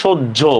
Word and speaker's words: সহ্য: প্রথম ক্লাসে পড়াইছিলাম, ওই যে ধার্য, এই যে হয়ের সাথে জ ফলা থাকলে তার উচ্চারণ জয় জ হয়। হয়ের সাথে জ ফলা থাকলে তার উচ্চারণ কি হবে, জয় জ। যেমন দেখেন সহ্য পড়াইছিলাম, বাহ্য, বাহ্যিক।